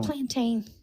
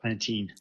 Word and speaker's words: plantain: yeah I I I I still plantain I like uh Pantene no that's not how you say it no but it's cuter